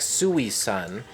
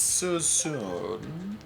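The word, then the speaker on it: Suisun: right next to susumu and it looks like suey sun and it's pronounced susu it's so soon yes i thought you were going for a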